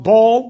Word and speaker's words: Baal: They prophesied in Baal or pronounced ball.